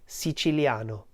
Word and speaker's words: siciliano: vowels the I and the a which in Italian are joined together in a diphthong so repeat after me si chiliano si Chi Lia no SI chiliano and this means Sicilian